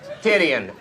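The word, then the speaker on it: Titian: boobs and this is for real his name is spelled t-i-t-i-a-n tidian honest there you go so as we all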